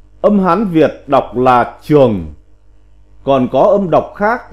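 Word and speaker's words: 長: Chữ 161, chữ trường, âm Hán Việt đọc là trường, còn có âm đọc khác là trướng, là tràng, là trưởng, là trượng.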